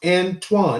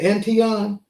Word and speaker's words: Antoine: It's pronounced Antoine. That's what I thought. What did you say? Antion? Antion, yeah, that's how it looks.